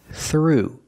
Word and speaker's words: through: through the ringer pronunciation through use the voiceless th sound plus the r sound together th through through through the